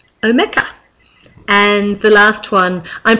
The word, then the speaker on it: Omeka: storage database um solution I used to call Om a apparently that's pronounced omea and the last one I'm pretty sure I'm